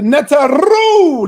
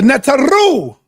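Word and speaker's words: neteru: The netaru. That's how you say it. Roll it off your tongue. Pause. The netaroo.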